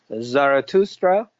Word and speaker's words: Zarathustra: Well, Zoroaster is one pronunciation, a different pronunciation of Zarathustra, or in Persian language, in Farsi, is Zartosht. And so these are three different pronunciations of the same name, and it's a name of a Persian prophet.